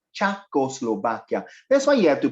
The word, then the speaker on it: Czechoslovakia: he moved her mouth it's pronounced as chako slovakia that's why you have